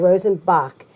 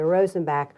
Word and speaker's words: Rosenbach: Rosen back Museum and I just found out my whole life I've been saying it wrong Arthur oh I've been saying Rosen Bach and everybody I know says Rosen Bach so thank you for correcting me Rosen Bach that's the way that did you ever meet any